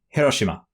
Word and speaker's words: Hiroshima: Hiroshima.